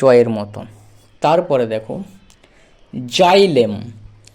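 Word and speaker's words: xylem: এর মতন তারপরে দেখো জাইলেম এক্স ওয়াই জাই কেন কারণ এক্স এর উচ্চারণ আমাদেরকে বলা আছে বর্গীয় জ এর মতো হয় তাহলে এক্স এ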